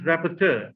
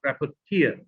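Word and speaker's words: rapporteur: and by the way note the pronunciation is pronounced rapperter and not rapper tear now a rapper if you look up the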